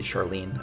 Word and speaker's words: Charlin: One maybe weakness here is again the interest in the NPC herself, Charlin or Charlin, maybe Charlene. It's Charlin as it's spelled.